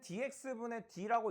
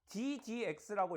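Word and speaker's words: d/dx: 근데 이거 분수처럼 쓰기는 하는데 읽을 때는 dx분의 d라고 읽는게 아니라 ddx라고 읽을 거예요.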